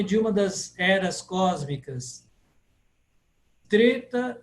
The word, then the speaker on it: Treta: uma das eras cósmicas treta yuga não é tré É Treta treta yuga Deva divindade